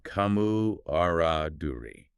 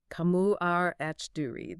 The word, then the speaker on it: camaraderie: Pronounced camu aruri. Kamu arduri. That French influence on the final re sound is important for getting the articulation right.